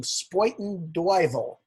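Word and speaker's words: Spuyten Duyvil: And most recent novel is Slybang from Spoiten Duyvel. Did I pronounce that correctly?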